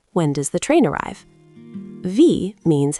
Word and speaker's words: wie: The E in V is a long E sound, like in see.